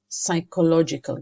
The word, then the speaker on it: psychological: physical laughter also has psychological gains okay be careful with pronunciation here physical we don't say per its fur physical and also we don't read Pusser we say sir psychological games okay physical benefits physical